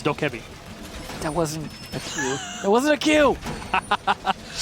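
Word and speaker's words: Dokkaebi: to worry about trying to pronounce dhoka be correctly Oh kevie well it's doc heavy that wasn't was a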